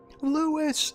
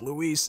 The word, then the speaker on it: Luis: the man's dying and leon still doesn't say his name right lewis it's luis jackass well we got some